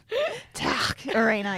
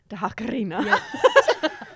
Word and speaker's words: Takarina: Tuck Arena, is that how you say it? No, you got to roll the R. You say it quite well. Dakarina.